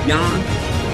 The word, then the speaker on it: Jan: Jan. It's time to start pronouncing it the correct way. Jan Błachowicz, the Polish powerhouse.